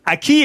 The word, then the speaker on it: aquí: que, comme en français, un U placé derrière un G ou un Q et avant un I ou un E, que, qui, que, gueux, ne se prononce pas.